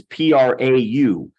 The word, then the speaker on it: prau: Now, the Greek word in Galatians 5:23 that's translated as meek is prau. I've got it transliterated as P-R-A-U and pronounced prau.